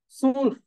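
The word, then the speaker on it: zwölf: দেখেন 12 হ্যাঁ 12 কে আমরা কি বলবো সুলফ সুলফ সুলফ সুলফ সুলফ হ্যাঁ মনে রাখতে হবে এটাকে এই নাম্বারের উচ্চারণগুলো অনেকবার হচ্ছে প্লে করবো অসংখ্যবার প্লেট করবো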